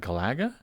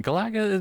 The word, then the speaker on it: Galaga: yeah I think so that'd be awesome what Gaga is that not how you say Gaga which one did I mispronounce h gal ugga Galaga no it's not